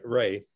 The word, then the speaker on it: Re: One of his best-known books, The Tears of, do I pronounce it re or rue or what? Hey, Ray. Ray, colon, Beekeeping in Ancient Egypt, was published by Oxford University Press.